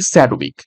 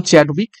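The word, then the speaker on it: Chadwick: হয়ে যাবে option D স্যাডউইক actually নাম চ্যাডউইক ঠিক আছে চ্যাডউইক তো সেটা উচ্চারণ অনেক সময় স্যাডউইক হয়ে থাকে তো দেখো কিছু গুরুত্বপূর্ণ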